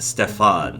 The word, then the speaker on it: Stefan: And he says, "I keep telling you, my name is Stefan, not Steve. It's pronounced Stefan."